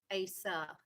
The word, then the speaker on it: Acie: It's spelled ACIE, but I think he says ASA, but it's not spelled ASA.